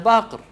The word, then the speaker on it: Baqir: Ana Baqir. Ana Baqir, not Baqar.